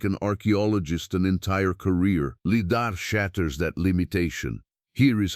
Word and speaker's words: lidar: The technology is called lidar, pronounced leidar, which stands for light detection and ranging.